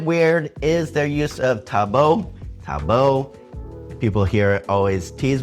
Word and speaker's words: tabo: Next thing over in the Philippines that's a little bit weird is their use of tabo. Tabo. People here always tease me about how I pronounce that, T-A-B-O.